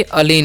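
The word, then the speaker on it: align: अलीन। इसे हम क्या पढ़ते हैं? अलीन पढ़ते हैं। यहाँ पर भी जी साइलेंट।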